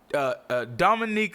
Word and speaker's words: Dominique: Dominique Fishback.